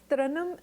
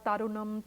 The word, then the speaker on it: Tarannum: So they would make it Tara, Tarunam, Taranam.